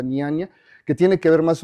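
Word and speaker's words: Nyaya: En la India está eh algo que se llamaba, se escribe N y A y a Y y a Niania, algo así se pronuncia niania, que tiene que ver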